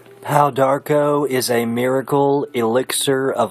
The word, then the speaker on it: Pau d'arco: pow Darko is a miracle elixir of longevity good for providing the body with total Harmony I'm talking about this glorious goodness right here it's pronounced pow Darko and we're going to talk